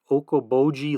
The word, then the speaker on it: Okoboji: He said he was writing a paper on wildlife at West Okoboji Lake. I pronounced that right.